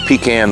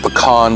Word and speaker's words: pecan: a chunk of green pecan wood or pecan wood if you prefer that pronunciation we call it pecan around here in north florida and